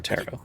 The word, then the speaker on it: tarot: or tarot. That's how it's pronounced.